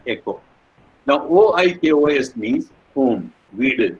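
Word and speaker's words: οἶκος: Derived from the Greek word echo, O-I-K-O-S, pronounced as echo.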